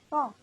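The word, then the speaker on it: 上: Now we have Shang, which is up. So Shang is just S A N G Shang. And it's also Shang, the fourth pronunciation. So it has a little line going down.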